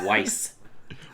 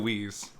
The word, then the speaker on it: Wisz: It's Weiss. Weiss. Ah, like I always pronounce Tyko Wisz.